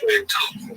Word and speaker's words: Bechtel: Bechtel, pronounced Bechtel, the San Francisco-based organization.